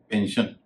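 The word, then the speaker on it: pension: एन होता है जैसे पेंशन या वर्जन आप देख रहे होंगे पेंशन में एस का उच्चारण में श कर रहा हूं और वर्जन में मैं कर रहा हूं ज तो कहां पर एसाय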